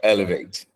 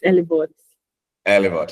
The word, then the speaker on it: Elevouth: Is it elev or elevate? It's elev. Okay.